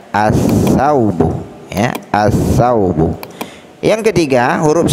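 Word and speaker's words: الثوب: As-saubu, as-saubu, tidak boleh kita baca al-saubu, salah. Kenapa tidak boleh dibaca al? Karena ada huruf syamsiyah, ya, bertemu dengan huruf syamsiyah.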